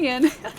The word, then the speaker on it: Ian: For anyone who doesn't know the story, another streamer decided the best way to pronounce Ian H05's name was Ayana Ho. But it's definitely Ian.